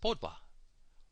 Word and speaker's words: pet: The word for pet, which means sky, it's not pronounced pet, it's pronounced Podwa. Podwa, P-O-D-U-A, Podwa.